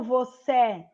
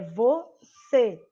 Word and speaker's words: você: Porque a sílaba, quando eu falo você, Eu não falo você, eu não abro a boca, eu fecho mais a minha boca. É você que eu falo, tá certo?